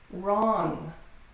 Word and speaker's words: wrong: Wrong, wrong. So when you see W-R, you can pronounce it just like the R.